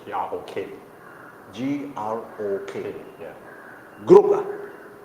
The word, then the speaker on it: Grok: That one, the name is Grok, G-R-O-K. G-R-O-K. Yeah. Group I think it's pronounced Grok.